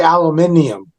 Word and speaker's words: aluminium: Words is like like like in uh the UK like aluminum we say aluminum yeah they say aluminium yeah I've heard that before